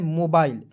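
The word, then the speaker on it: mobile: है ठीक है तलब मोबिल आपको नहीं पढ़ना है दोस्तों इसे क्या पढ़ना है मोबाइल एमओ का हो जाएगा मो बी आई एल ई इसका हो जाएगा बाइल के रूप में उच्चारण करेंगे हो जाएगा दोस्तों मोबाइल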